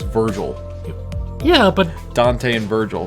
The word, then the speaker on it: Virgil: sounds cool no like if you're saying burgle I know it's pronounced Virgil but his name is